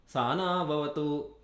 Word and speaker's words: Sahana Vavatu: For example, in Yajurveda, it is Sa, the first syllable, has a lower note. Sahana Vavatu. Sa is a lower note. Ha is a middle note. So you can't say Saha. Saha na, that is an upper note.